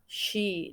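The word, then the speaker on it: し: Untuk barisan ketiga yaitu sa. Bunyi i-nya menjadi shi ditambahkan h. Jadi bukan si saja tapi shi.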